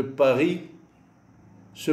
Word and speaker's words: Paris: le s final de paris se prononce en allemand en français on dit paris mais en allemand die parisse parisse le s se prononce à la fin du mot paris applications et traduction s